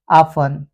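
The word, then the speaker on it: often: हो जाता है कासल, या टी के बाद ई एन लगा हो तो भी टी साइलेंट हो जाता है ऑफन, लिसन, क्रिसमस।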